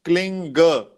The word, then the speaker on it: Kling: As you have heard, this mantra is pronounced klinga. It is G in the end. Kling, then there is name of Lord Krishna, then there is again kling. So it is pronounced kling, Krishna, kling.